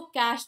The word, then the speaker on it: cache: तो कैश पे नहीं बोलते, सो कैश बोलते हैं, जस्ट एज योर कैश, पैसे वाला कैश, CASH इसका प्रोनाउंसिएशन होता है. स्पेलिंग इसकी होती है CACHE. A group of things that